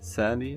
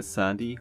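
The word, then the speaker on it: sandhi: the vowel next Sandy yeah I think I mispronounced it earlier anyway Sandy I think that's how I pronounce it just means sound changes at morim or word boundaries an example of internal Sandy which is at morphing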